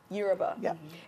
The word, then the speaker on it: Yoruba: but your bug you were about let me pronounce that correctly Yoruba and house' so they are very spiritual people